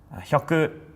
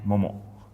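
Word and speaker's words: 百: So, hyaku and momo, but again, momo.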